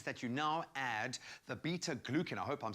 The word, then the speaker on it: beta-glucan: Beta-glucan. Beta-glucan sounds like a song line, but we know how healthy it is.